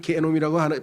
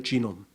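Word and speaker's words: genome: 좀 안 좋아서 개놈이 근데 영어로는이 개놈이라고 발음을 안 하고요 쥐이기 때문에 한국 사람이 주인은 기억으로 발음을 하는데 영어로는이 쥐가 쥐놈이에요 쥐놈 쥐놈도 별의 발음이 안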